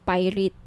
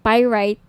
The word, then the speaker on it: pyrite: gusto niyo ng bracelet ito yung pirate pyrite sorry pyrite yung iba pronounciation pirate pyrite Okay 1,980 each may